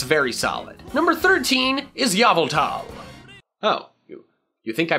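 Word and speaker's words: Yveltal: Here on this channel, we pronounce it Yavultal because that is how the creature itself says it should be pronounced.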